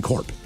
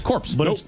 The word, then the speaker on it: Corps: if you look like it looks to me like it says Marine Corps, Yeah. Yes. Corpse. but it's Corps.